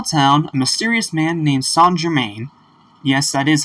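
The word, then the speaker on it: Saint-Germain: in a small town a mysterious man named s Germain yes that is how it's pronounced is trying to buy some apples when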